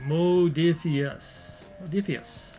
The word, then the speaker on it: Modiphius: Modiphius.